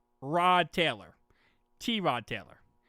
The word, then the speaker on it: Tyrod: just now learned yesterday his actual name, how you say it, is not Tyrod Taylor. The announcers call him Tyrod Taylor. Fans call him Tyrod Taylor. Everyone calls him Tyrod Taylor. And he came out yesterday and said it's not Tyrod Taylor. My name is T Rod Taylor.